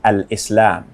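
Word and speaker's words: al-Islam: Islam Islam means submission the proper way to pronounce it is Al Islam Al Islam means the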